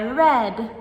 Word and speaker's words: read: And to make it even more confusing, we also have the color red, which is spelled R-E-D, but is pronounced the same as the past form of read.